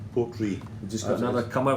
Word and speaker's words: Portree: It's pronounced R-U-I-G-H-E is Gaelic for Ree, and it's in respect of the capital of Isle of Skye, Portree the town. So it's actually named after that. And the original Gaelic way of spelling Portree the town was R-U-I-G-H-E. So that's what it is. It's pronounced Portree.